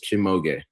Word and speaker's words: Shimoge: It is 3 syllables. Shimoge.